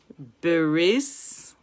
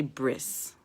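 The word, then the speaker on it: בְּרִית: Beris olam. Now, the proper pronunciation is beris. Most people say bris.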